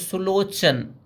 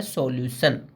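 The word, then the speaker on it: solution: जैसे आपने नोटिस किया होगा सॉल्यूशन, लोग यहाँ पे बोल देते हैं सुलोचन, बट एक्चुअल होता है सॉल्यूशन।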